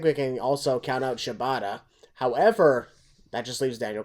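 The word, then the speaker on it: Shibata: that happened exactly exactly dude uh shabata katsuyori shabata did I say it right please tell me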